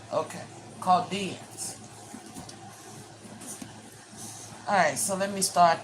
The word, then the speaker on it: Chaldeans: The H is silent. Okay. Chaldeans.